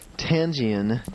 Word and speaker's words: Tianjin: She is from Tianjin, China.